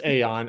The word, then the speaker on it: Aeon: amazing y'all can't you can't pronounce it Eon folks it's aeon I mean I know